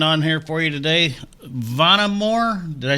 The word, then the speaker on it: Vonamor: a great band on here for you today vonnamore did i s did i pronounce that right yes yeah oh good i'm